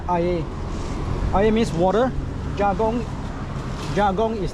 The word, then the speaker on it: air: I'm getting this I yagong ay in this is not pronounced as air because this is in the Malay language. So it's called it's pronounced ay means water.